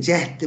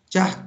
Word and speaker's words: cahd: kitaplarda veya telaffuz edince cehd-i mutlak derler. Cehd demeyelim arkadaşlar. Cahd diyelim. Çünkü cahd-i mutlak bakınız veya siz kendiniz karar verin. Ne yaparsanız yapın. Cehd H harfiyle değil. H harfiyle. Cahd.